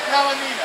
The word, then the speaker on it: Kalinina: Kalinina. I had to get that out. That's how you pronounce her name.